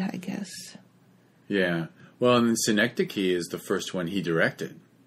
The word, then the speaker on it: Synecdoche: There's one movie, I don't know how to pronounce the third word. It's called New York. Oh, Synecdoche. Yes. Synecdoche, yes.